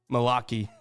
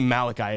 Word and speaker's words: Malachi: Malaki. I don't know if Malaki. I don't know. I can't even pronounce my own name half the time. Malachi. It's definitely Malachi, isn't it?